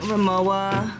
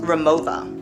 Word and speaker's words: Rimowa: Here's my Rimowa. I think it's actually pronounced Remova.